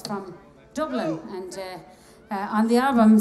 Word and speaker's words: Dublin: to dublin um and you have to say dublin with three syllables to get it right rob a little